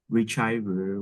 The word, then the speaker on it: retriever: Complex, the dog, golden retriever with a friendly demeanor.